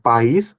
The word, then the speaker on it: país: No primeiro caso, pais, a sílaba tônica é pá, né? No segundo caso, país, a sílaba tônica é isinção é marcada pelo acento. Então, como consequência disso, podemos